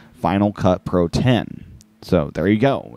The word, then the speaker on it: Final Cut Pro X: pointed this one out before not but in final cut pro 10 faq the document begins how is final cut pro x pronounced according the apple final cut pro x is pronounced final cut pro 10.